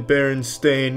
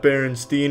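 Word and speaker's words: Berenstain: It's always been Baron Stain, not Baronstein. Everyone, every everyone, every they all want to pronounce it Stain, but it's Stain.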